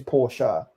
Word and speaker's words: Porsche: People who could never afford a Porsche say Porsche, thinking that's the fancy name, but the actual name is Porsche, as is Good job.